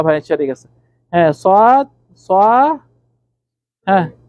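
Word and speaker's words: ص: ফাতহা কাসরা দম্মা আচ্ছা সোদ আমাদের অনেক ভাইয়েরা আবার সোয়াদকে সিনের মত উচ্চারণ করে সোদ সদটি হলো মোটা সিন হলো চিকন সদ আমাদের কোন ভাই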